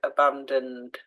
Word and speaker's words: abandoned: that first one together so abandoned we don't hear that E when we say it out loud abandoned okay so miserable which